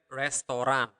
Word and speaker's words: restoran: Restoran. But the difference is that in Bahasa Bali or Bahasa Indonesia, we really pronounce the R. So restoran, restoran.